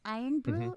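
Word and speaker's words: Irn-Bru: my puerto ricanness they we pronounce it eaton bean but it's iron brew or i yeah iron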